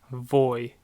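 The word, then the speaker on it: voi: is no no no and you plural is voy voy voy and then finally they which is third-person plural is Lord oh Lord oh so we have yo - Louie lay no voy Lauro okay so now we're gonna learn the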